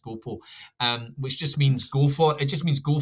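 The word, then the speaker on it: gå på: Um so go it's it's it's written as gapa but it's actually pronounced gopo.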